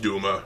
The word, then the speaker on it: Dume: And yes, it's pronounced Dume, shut up.